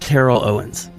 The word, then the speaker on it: Terrell Owens: He said, as long as you pronounce my name with 1 syllable instead of 2, we're good. It's Terrell, not Terrell.